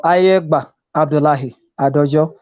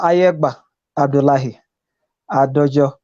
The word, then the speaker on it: Ayegba Abdullahi Adojo: Now, could you pronounce your name for us? Because we are the ones, I am the one with the accent, not you. It's okay. You are pronouncing my name very well still. But better still, my name is Ambassador Ayegba Abdullahi Adojo.